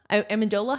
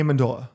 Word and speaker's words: Amendola: Amendola, how do you say his name? Danny Amendola.